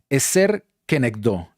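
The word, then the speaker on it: עֵזֶר כְּנֶגְדּוֹ: Y lo que estoy remarcando se pronuncia eser kenekdó.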